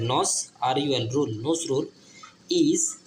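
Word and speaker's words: Nazrul: যেমন ধরুন হচ্ছে এন এ ন এন এ জেড নজ আর রু আর ইউ এল রুল নজ রুল এন এন এজেড নজ আর ইউ এল রুল nose রুল ইজ a poet poet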